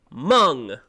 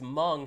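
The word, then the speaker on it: Hmong: I I know how to spell Mung because Mung has a silent H in it.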